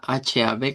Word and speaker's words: hab: Que es la de esta semana, que hemos dicho que la vamos a pronunciar con una P, esa H-A-B como P, como hab, luego kaina y luego Angst.